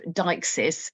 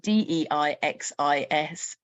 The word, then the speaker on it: deixis: uh linguistic concept of deixis, which I should uh point out is spelled d e i x i s. So, it's that deixis, not deixis. It's deixis.